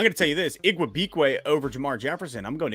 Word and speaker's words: Igwebuike: Igwebuike? Yeah, how do you say that? Yes. There you go. Igwebuike.